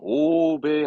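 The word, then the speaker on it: 欧米: 구음이라는 건 발음은 오배 한다고.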